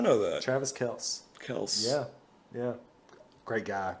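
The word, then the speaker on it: Kelce: second okay travis kelsey his actual last name pronunciation is kels but it was pronounced kelsey so much in the media that he just never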